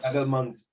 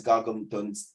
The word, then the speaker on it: gargantuan: Gargamons. It's pronounced as gargantuan's arms.